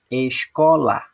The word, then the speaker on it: escola: À medida que eu for lendo, vocês irão verificar que quando eu falar a sílaba cor, eu vou falar com mais intensidade do que essas outras duas.